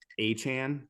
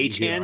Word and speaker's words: Achan: And did you see it's pronounced Achan. That's how he wants to be pronounced from here A-Chan, on not out. A-Chain. It's not Achan. It's Achan.